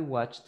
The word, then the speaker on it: watched: watch it present I watched it past yes exactly it sounds like T at the end I watched it yes